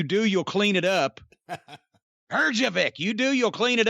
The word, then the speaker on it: Herjavec: And Robert, with the last name we can never pronounce. Herjavec. Well, you can pronounce it. As my mother used to say, if you do, you'll clean it up. Herjavec, you do, you'll clean it up.